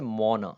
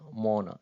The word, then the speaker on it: mona: नज़र आ रहा है, तो इसकी प्रोनाउंसिएशन कुछ यूं थी जैसे मोना, मोना ऐसे करके, बट यहाँ पे इसको